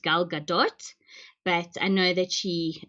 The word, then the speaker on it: Gal Gadot: gadot some people say gal gadot so in hebrew it should be pronounced gal gadot but i know that